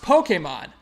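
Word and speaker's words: Pokémon: storied series known as Pokemon and yeah it's pronounced Pokemon I will I will rip you Destro like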